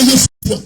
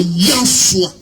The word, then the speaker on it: Yahshua: Tu comprends, c'est pas Yeshua, c'est Yahshua.